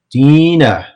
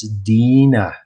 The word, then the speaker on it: Dina: Dina. Make sure everybody pronounces her name correctly. It's Dina. Dina. Dina.